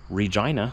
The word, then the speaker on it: Regina: I'm taking this trailer with me to Regina, Saskatchewan. Yes, that's how you pronounce it.